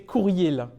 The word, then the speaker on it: courriel: Et mon préféré, j'adore prononcer courriel. parce que du coup, c'est l'abréviation de courrier électronique. Du coup, il faut bien dire il.